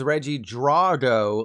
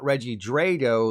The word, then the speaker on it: Regidrago: Oh, and this handsome fella is Regidrago, like Ivan Drago, not Regidrago, like Draco Malfoy.